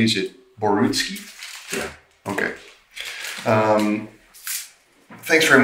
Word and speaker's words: Borutski: of professionalism in light of the crimes that barrowski has committed now basil am i pronouncing your last name correctly is it borutski yeah okay um thanks very much for taking